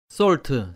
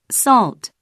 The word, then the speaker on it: salt: 자 다음 단어입니다 예이 단어도 설트 설트 이렇게 하지 않죠 대신 sort 이렇게 발음하고 있습니다 다시 들어보겠습니다 sal salt 다음 단어입니다 songong 예